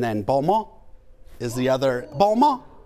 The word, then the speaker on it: Balmain: balma is the other Bulma is that how you pronounce it yeah it's not Balmain if yeah but yeah